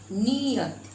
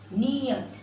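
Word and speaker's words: नीयत: और ये देखिए न में बड़ी य त, नियत, नी, यहाँ पर हम खींच कर बोल रहे हैं, नी, नियत।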